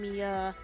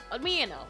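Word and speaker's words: Miyano: the two animes we'll be doing Sasaki and Mia I can never say his name Meo Meo there we go Sasaki and Meo on the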